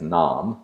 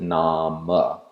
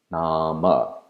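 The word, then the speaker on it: नाम: modern prose simply as Nam name you want to pronounce the inherent vowel at the end so you'll pronounce it namah namah in order to get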